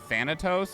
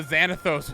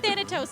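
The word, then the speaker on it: Thanatos: that his name yeah that's right actually that is correct yeah you said you said it right sucks that flicked a light switch on the xanathos was close but thetatos is correct did the teleporter fail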